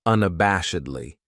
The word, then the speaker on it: unabashedly: Then we have unabashedly. This adverb has five syllables and the stress is on that third syllable that bash unabashedly. That second syllable has that schwa, that uh sound unabashedly.